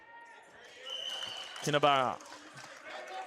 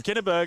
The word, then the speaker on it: Kinnaburra: I've been pronouncing his name wrong for about 2 years now. Have you? I thought it was Kinnaburg, and I went, geez, I better double check.